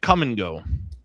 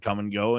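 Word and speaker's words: Kum & Go: hats and things that said Come and Go, and it's spelled K-U-M and G-O, and was the brand forever.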